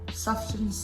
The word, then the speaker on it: Sufjan: Sufjan Stevens.